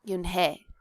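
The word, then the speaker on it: Unhei: Joey she nodded slowly yes it's pronounced Yun and it means Grace Mr Kim added Yun Joey said slowly and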